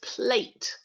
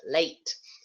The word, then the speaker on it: plate: silent e yeah so that e at the end changes the vowel sound in the middle makes it much longer it's not plat its plate many students might find